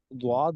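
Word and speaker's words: ضاد: और जो मखरज के लिहाज से जो इसका मखरज बनता है, उसमें भी जो लफ्ज़ प्रोनाउंस होता है वो द्वाद ही है, यानी द्वाद।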